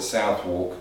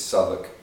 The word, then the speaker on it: Southwark: Most people call it Southwark because that's the way it's spelled, but most people in London, it's Southwark and that area.